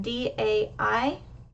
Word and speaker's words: daí: In other words, if that word D-A-I did not have an accent, it would be pronounced die. The A and the I become what's called a diphthong. They're pronounced like one letter together. However, this word does have an accent, so the A and the I are pronounced separately, two separate letters.